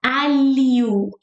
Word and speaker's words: alho: How do you make the LH sound? It's like a, li, u, like u, a, li, u. And it's like you're speaking li fast. Alho, alho.